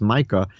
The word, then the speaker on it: Micah: is eternal is from the prophet michael or sometimes it's pronounced micah chapter 5.